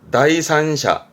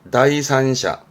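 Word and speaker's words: 第三者: 발음은 토지샤, 토지샤. 제3자군요. 다이산샤, 다이산샤.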